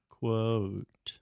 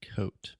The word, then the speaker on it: quote: said it quote yeah let's just try really slow and say quo quo quote quote yeah really try to exaggerate the quote quote yeah yeah the first time again it was just 100 coat okay um I think